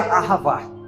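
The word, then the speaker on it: אהבה: Eu estava estudando para esses dias o verbo amar, a partir do hebraico, que se pronuncia ahavá.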